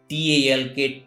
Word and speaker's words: talk: Whenever L is found before M, F, K, D, in that condition, L is silent. As example, CALF, cough, not calf. CHALK, chalk. HALF, half. TALK, talk.